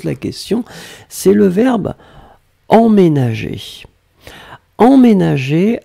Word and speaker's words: emménager: Emménager, alors là vous voyez qu'il y a deux M, faites attention, ça c'est en général un petit peu la difficulté, c'est pour ça qu'on prononce en, le en c'est vraiment la nasale EM, ménager.